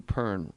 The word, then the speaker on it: Pern: Matthew Pern, rhymes with burn.